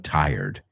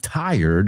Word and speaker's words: tired: Me encanta cómo has pronunciado tired. I am tired of hearing tired. So, great job. Esa cuesta, ¿eh? Esa es uno de los big ones. Tired. Tie, como corbata. Tired.